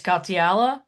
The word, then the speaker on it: Katiala: So I just want to say, the people on this panel, Anna Hutchinson, Rita Katiala, did I say her name right? Yes.